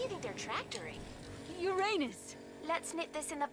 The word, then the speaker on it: Uranus: jokes about Uranus besides the proper pronunciation is Uranus it's a dactyl sorry Friday hey I'm